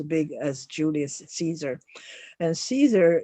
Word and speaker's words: Caesar: as Julius Caesar and Caesar is usually pronounced Kaiser at that time that's why we St